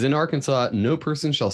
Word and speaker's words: Arkansas: motto Etc states that Arkansas should be pronounced in three syllables with the final s silent the a in each